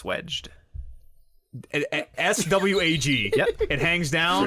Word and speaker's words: swag: So there's a term in electrical apparently where a light fixture can be swagged, and that's where It's pronounced swedged.